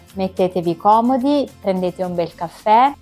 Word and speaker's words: caffè: L'accento grave va verso il basso, come nelle parole teè, caffè, indica che la e accentata va pronunciata aperta, quindi avremo la e